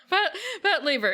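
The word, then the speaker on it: Patlabor: laa La Lea Pat laa Pat laa pat pat Laver It's Pat Laver okay my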